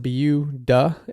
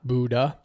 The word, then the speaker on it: Buda: Uh, so can't not can't not talk about Buda, uh, which is pronounced Beu Duh, uh, not Buddha, which uh, trips up a lot of newcomers and even me sometimes.